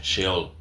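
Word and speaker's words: Seol: Perdón, dije SH, es S-E-O-L, la H no la tiene. Se pronuncia como si fuese una H, Sheol.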